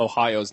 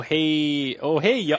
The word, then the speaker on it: Ohio: Oh hey, yo. I thought it was like hey yo, like hey yo, what's up?